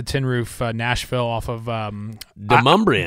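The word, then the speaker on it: Demonbreun: I mean, shout out to Tin Roof Nashville off of Demumbrian. Demumbrian, yeah. I thought it was Demon Braun. Me too. Yeah. Didn't know how to pronounce it, but so it's not Demon Braun Street, yeah.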